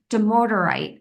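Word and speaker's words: dumortierite: It's demorderite is Hmm.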